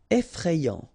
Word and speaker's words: effrayant: Effrayant, okay, remember, final T not pronounced.